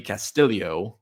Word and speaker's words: Castillo: going to UF I should say um Ricky Castillo that's how you pronounce it at 6600 certainly playable um terrible